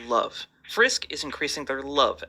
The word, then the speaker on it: LOVE: Um, actually, it's not pronounced level. It's pronounced love.